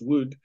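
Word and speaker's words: Wode: The court composer, Thomas Wood, I know it's spelt W-O-D-E, but I'm told it's pronounced Wood.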